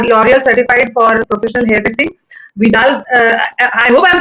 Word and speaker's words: Vidal: Vidal, I hope I'm pronouncing it right. Yeah, it's right. Is it Vidal? Correct, Vidal Sasa, and she's done masters in hairstyling there.